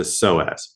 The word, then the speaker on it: psoas: The big third one is the psoas. Okay, so when you search this, it's spelled differently than how it sounds. It's PSOAS. So PSOAS is psoas.